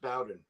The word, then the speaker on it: Bowden: So down south, it's pronounced Bowden. Like okay. Bobby Bowden.